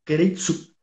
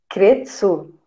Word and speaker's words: Keiretsu: Formação nas empresas que nós chamamos, que é conhecida como Keiretsu. O que Como que que é, é uma professor? empresa Keiretsu? Kretsu? Que é isso? Que Kei K-E-I-T É, mudo, é. não, é Keiretsu.